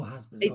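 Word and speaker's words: Hazbin: Yeah, it's spelled H A Z B I N. Okay. Oh, has been.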